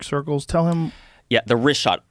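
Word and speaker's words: Richat: The rishot.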